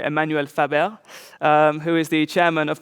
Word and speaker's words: Emmanuel Faber: We are lucky to be able to interview Emmanuel Faber, who is or I should pronounce that in the French way, Emmanuel Faber, who is the chairman of the board and CEO of Danone.